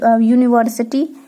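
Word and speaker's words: university: Consonant हो, ठीक है, यदि किसी शब्द का पहला अक्षर वावेल हो लेकिन हमारा जो उच्चारण है वो कॉन्सोनेंट हो, जैसे कि मैं यहाँ पे अगर यूनिवर्सिटी, जैसे कि आपका हो गया यूनिवर्सिटी, ठीक है।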